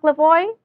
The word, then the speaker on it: Lavoie: your name right Chief Lavoy is that correct yes you pronounced correct I'm the Visa Chief